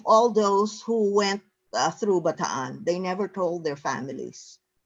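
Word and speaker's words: Bataan: how you say baton that explains the two A's in Baton uh you say it correctly there's a you know kind of another syllable there um you know who taught me that uh that pronunciation who was an American really who was in ban don't you know what it's batan it's land of the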